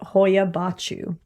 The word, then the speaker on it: Hoia Baciu: This forest is called Hoia Baciu. And I know I said that right because I checked up the pronunciation everywhere.